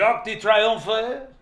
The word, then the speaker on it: Arc de Triomphe: I'm not pronouncing it right? What, Arc de Triomphe? Well, he corrected me. He said, the Arc de Triomphe.